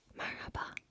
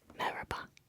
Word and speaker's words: merhaba: In Arabic, like the H sound is way more throaty and intense, but in Turkish it's more smooth sailing. You could even say merhaba. Merhaba. Like if you're saying it fast, like sometimes you don't even hear that H.